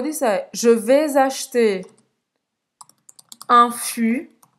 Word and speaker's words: fût: Não vai pronunciar esse T.